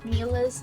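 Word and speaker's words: Milla: Mila's name is pronounced Mila.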